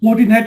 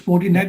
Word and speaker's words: Fortinet: It's Fortinet. Actually, it looks like the same one. It's Fortinet.